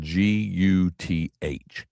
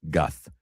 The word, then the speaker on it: Guth: So somebody's texting me and I said, "It sounds like I'm saying Gus with a lisp, Guth."